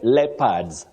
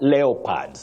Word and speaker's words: leopards: of Bunga you say leopards not leopards that o is silent AFC leopards not AFC leopards which we hear commonly